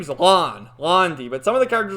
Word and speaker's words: Lan: characters are calling him lan it's not so i'm getting so damn confused because i know it's pronounced lon that's like the way you would pronounce it but there's other characters